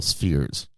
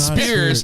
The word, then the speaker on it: sphere: But now, like I love pickle spheres. Oh my god, sphere. They're not spears. They're spheres.